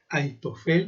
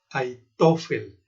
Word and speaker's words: Ahitofel: Y si mencionáramos más su nombre en pronunciación hebrea, diríamos Ahitofel, poniendo la H como J. Ahitofel.